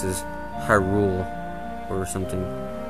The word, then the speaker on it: Hyrule: lots of controversy too hyrule i've heard it so many times pronounced as hyrule or something i really do not believe that the the accent goes on rule and not just because